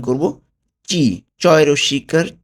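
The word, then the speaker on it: ci: চি। চয় রস্যিকার চি। ঠিক আছে? ইতালিয়ান বর্ণমালা উচ্চারণটা হবে চি। আমরা কখনোই সি বলবো না, চি বলবো এটাকে।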